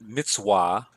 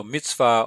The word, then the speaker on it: mitzvah: Some would pronounce that mitzvah. Some people pronounce it with a V sound, some with a W. So mitzvah or mitzvah, I say mitzvah.